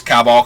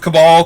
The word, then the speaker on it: Cabal: cabal coffers and no I don't know why cabal coffers is sometimes cabal coffers I forget like I had like some people that mispronounced it like that and it kind of got stuck in my brain even though it's they're the cabal so it's cabal coffers but somewhere somehow Cowboys